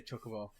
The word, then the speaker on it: Chocobo: At the Chocobo farm, the right way to say Chocobo.